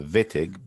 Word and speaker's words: Wittig: The pronunciation of this is an illid, and this is known as the Wittig or Wittig. Correct way is saying it the Wittig because it's from German and W means is used as a V.